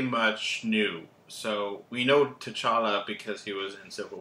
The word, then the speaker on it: T'Challa: How do you pronounce that? T'Challa.